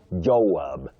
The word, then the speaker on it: Joab: The second one, Joab. Joab, not Jo. Joab, that is J O A B.